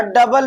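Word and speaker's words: double: और डबल में भी हमारा ओ और यू एक साथ आ जा रहा है तो हमारा क्या हो जाएगा भैया, ये ओ साइलेंट हो जाएगा।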